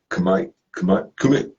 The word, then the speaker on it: Kumite: Like Kumite, how you say that? Kumite. Yeah, Kumite. That's how you say it.